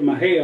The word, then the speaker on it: Mexia: I've heard of Mahia all my life, and I've seen the sign that says Mexia, and I've never put those two together.